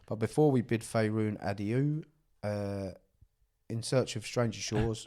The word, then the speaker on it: adieu: But before we bid Faerun adieu, in search of stranger shores... Adieu? That's not how you say it, is it? Adios. No, it's A-D-I-E-U. A-D-I-E-U? Yeah. Oh, I don't know what that is. Adieu.